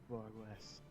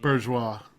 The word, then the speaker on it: bourgeois: I'm nothing like that fat cat Borges. Terrible mispronunciation. Bourgeois.